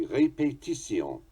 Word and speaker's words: répétition: We say repetition. They say répétition. Répétition.